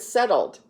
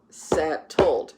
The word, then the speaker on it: settled: Does the ED add a new syllable? Let's clap it out. Settled. No, that ED sound is actually just a D sound. It doesn't have an ED. It's not settled, right? It's settled.